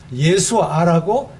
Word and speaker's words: 예수아: 우리는 예수라고 표현이 되어 있지만 이스라엘에 가서 읽을 때는 이 성경을 그대로 예수라고 읽으면 안 돼요. 못 알아들어요. 예수아라고 해야 예수님이구나, 이렇게 알아듣습니다. 그래서 예수 그리스도, 예수님을 바로 말씀하고 있는 것입니다.